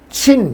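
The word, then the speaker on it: 秦: 그러니까 같은 진이라도 진이 친 이렇게 발음돼요.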